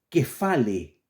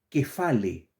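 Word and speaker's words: κεφαλή: cotidiano la palabra cabeza esto se lee fonéticamente desde griego que fale repito fonéticamente en el idioma griego la palabra que se traduce al español como cabeza se pronuncia que fale no conlleva la idea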